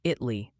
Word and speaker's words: Italy: Multiple viewers are saying Italy, Texas is pronounced Italy. Apparently, the A took the day off.